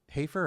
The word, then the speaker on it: Hafer: Hafer or Hafer? Hafer. Hafer. Oh, Hafer. Hafer. Alexia Hafer. Hafer, yeah. Alexia Hafer. Like a wafer.